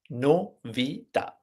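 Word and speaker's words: novità: right in other words the Italian word novita so news news in Italian novita no Vida according to the Italian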